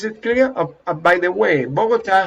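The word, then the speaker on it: Bogotá: clear by the way bogota has an accent what is the accent it's here bogota okay even though you pronounce it differently in english okay observe the difference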